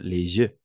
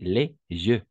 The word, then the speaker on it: les jeux: J, on prononce J. Ici, c'est je. Uno es con J, otro es con Y. A nivel de la pronunciación es les yeux, con una Z, y otro es les yeux. Hay una ligera diferencia, ¿no?